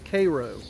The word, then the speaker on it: Cairo: We are here at Vicksburg National Military Park, and behind me you can see the USS Cairo, in the way we pronounce it down here, the USS Cairo.